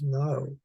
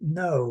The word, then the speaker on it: know: And see the GN, the gamma nu in the beginning, in English comes out to be KN. We call it no, but we pronounce it no, right? No. But in Old English, they used to pronounce that k. It was kno.